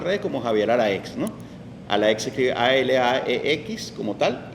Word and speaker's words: Alaex: Alaex se escribe ALAEX como tal y Javier normal como es mi nombre.